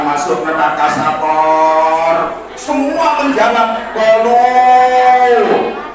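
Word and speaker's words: قالوا: Semua menjawab qalu. Menurut Abu Salam ada wawu jamak, makanya bacanya nggak boleh pendek. Qalu nggak boleh, bacanya harus panjang.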